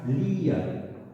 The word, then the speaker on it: lía: Pero ¿qué ocurre si recae el acento de intensidad? Lía. ¿Veis que yo la pronuncio más larga? Lía. Es decir, se convierte en abierta.